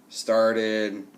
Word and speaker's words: started: So if we have a T or D, then we have to add the id sound, okay? Short I and D together, and it makes a new syllable at the end. Wanted, hated, started, okay?